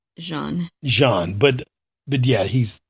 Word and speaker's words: Jean: Yeah, it's pronounced Jean.